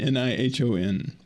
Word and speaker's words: Nihon: Japan versus Nihon Nihon n-i-h-o-n or Nippon is a sort of the more familiar the Japanese name for Japan can be pronounced either Nihon or Nippon both readings come from